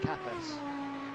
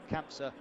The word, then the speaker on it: Campsa: He was off on I believe I pronounce it Capas, the corner Capas. So you go up the hill and it's a 90-degree over the top of the hill. Campsa, back down. It seems that he came